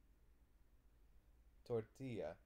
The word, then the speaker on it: tortilla: is a little different the elves in this case you pronounce like a why so it's gonna be towards the tortilla you want to try to say it tortilla continue right can you